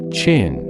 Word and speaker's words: Qin: In 221 B.CE, a king named Ingenang, ruler of the state ofQin, pronounced Chin, which is very likely the source of